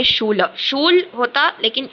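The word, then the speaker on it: Schule: Book फिर next यह वाला शूल इसको कोई भी यहां पे शू ले आप प्रोनाउंस मत कीजिएगा। नहीं तो आपकी मेमोरी में ये शू ले ही बैठ जाएगा। अगर आप शू ले बोलते थे तो नहीं ये शूल ल है।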